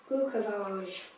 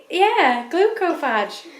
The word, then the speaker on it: Glucophage: It's spelled Phage, so it could be like phage, glucophage. Phage, he said. Glucophage. Anyway, sounds like fudge.